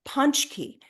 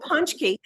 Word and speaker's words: pączki: have these donuts called pączki. It's not how it's spelled. It's got a Z and Polish letters are I'm crazy. letting you pronounce everything on Yeah. this show. But they're Yeah. called pączki.